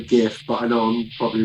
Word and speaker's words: GIF: british drivers i see okay um gif or jiff how do you pronounce it i'd say gif but i know i'm probably wrong no you're